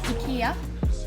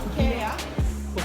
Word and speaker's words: IKEA: 正确的 IKEA 念法应该是这样子， IKEA. 或者这样子， IKEA.